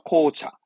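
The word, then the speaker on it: 紅茶: 발음은 아시죠? 코차.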